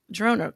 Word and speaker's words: Girona: So you are fresh off of Girona, Spain. Am I pronouncing Girona correctly? Girona, yeah, exactly.